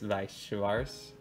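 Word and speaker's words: Weiß Schwarz: If it's German, it's Weiss Schwarz, because they pronounce the W like a V.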